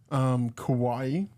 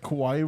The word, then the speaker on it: Kawhi: Okay, so Kawhi, Yeah.